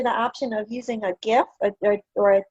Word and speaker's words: GIF: pronounce this thing because it stands for graphic and it's a hard g that's my that's my that is i stand firm on this and so if you